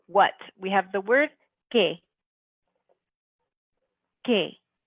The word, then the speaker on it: que: Then for what, we have the word que. Que. You can hear how that U in the middle, we don't hear it when we pronounce it, really. It's just one sound, que.